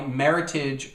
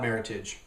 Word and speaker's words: Meritage: make a point about Meritage first of all Meritage is Meritage not Meritage Meritage supposed to rhyme with Heritage it's supposed to be Merit and Heritage together and what they do